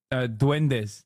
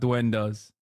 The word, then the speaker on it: duendes: Duendes, not duendas.